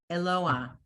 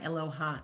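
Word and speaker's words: אלוה: and an ah, it's Eloah. Oh, Eloah, Eloah. Right. not ach, Eloah. Eloah. It's not Eloha, it's Eloah. And that's Eloah. aspirate. It's not a chet. It's still the vowel is pronounced first.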